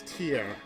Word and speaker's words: Tia: As her name is Tia. Which almost sounds like the word tears.